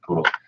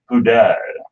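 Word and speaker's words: Pudel: So if that's something that's on your mind and I haven't seen many standard poodles, come on in.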